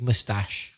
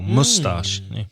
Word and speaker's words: mustache: is bigger t your you sometimes hear that word pronounced with the stress on the first syllable mustache yeah you hear both